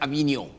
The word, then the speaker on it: Avignon: This word is pronounced Avignon.